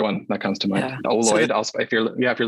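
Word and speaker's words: Oloid: Ooid, if you're Yeah, if you're listening, it's spelled O L O I D.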